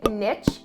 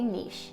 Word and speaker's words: niche: Now, firstly, if you think I say niche funny, I do. I'm Canadian, eh? I know my friends down south do say niche, but I say niche.